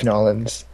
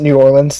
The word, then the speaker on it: New Orleans: It sounds so weird to say that, because, like, I used to pronounce it New Orleans like it's supposed to be. Pshaw. I know. Or New Orleans. But, now I've gotten into the habit of saying Nawlins.